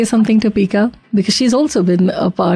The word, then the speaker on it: Pika: Yeah, it's Pika, P-I-K-A. P-I-K-A. Yeah, it's a unique name, hence I always pronounce it before I speak the name.